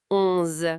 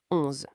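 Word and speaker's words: onze: Alors, 11 11 Encore un son nasal. 11 comme en anglais mais par le nez. 11.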